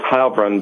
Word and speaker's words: Heilbrun: I believe it's Heilbrun, but you'll have to ask him how he prefers it.